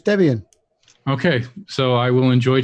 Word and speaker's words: Debian: very usual it was it's based around Deb and be in two people so it's Debian okay so I will